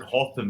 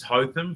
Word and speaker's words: Hotham: It's when you go back to like just the straight up and down ones, like instead of like we would pronounce it Hotham, but it's Hotham, the Crusaders, the young scrum half.